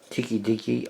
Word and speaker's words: Tokidoki: bolt in blue with Tiki Deaky on it and that's how you pronounce it tkdk and there's a little